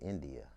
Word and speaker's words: N'Dia: So how did you come up with the name India? That's my real name. It's simple, it's cute, it's spelled like different, so I just wanted to keep it to let everybody know I'm different.